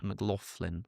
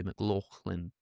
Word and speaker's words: McLaughlin: That's the reason I said whoever you are, because apparently McLaughlin is the American way with like an F. Yeah. McLaughlin, whereas I would say McLaughlin.